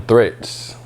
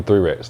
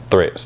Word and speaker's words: 3RETS: you are i am threats people call me three raps though but it's threats three rets yes i